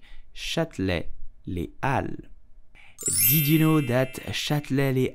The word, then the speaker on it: Châtelet-Les Halles: You will simply say Châtelet-Les Halles. Châtelet-Les Halles. Châtelet-Les Halles. In French, the H is totally silent and the S of Halles is also silent.